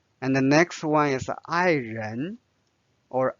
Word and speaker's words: 爱人: And the next one is 爱人 or 爱人. There's no tone symbol here. 爱人.